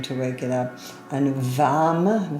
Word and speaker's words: Vam: And Vam, V, V-A-M, with a V is the sound, the one-syllable Sanskrit mantra sound.